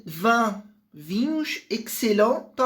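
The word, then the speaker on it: excellents: lembrar e van vinhos excel. Então a pronúncia aqui do X junto com esse C dá um som de ks, né? Excel.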